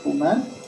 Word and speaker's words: Truman: Alors, Truman, ça c'est comme ça se prononce, hein, Truman.